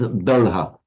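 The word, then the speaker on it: daḷha: In Pali, by the way, it becomes dalha. And that's, by the way, a regular feature from Sanskrit to Pali. So when you get an d sound, an intervocalic d in Sanskrit, it becomes a retroflex l in Pali.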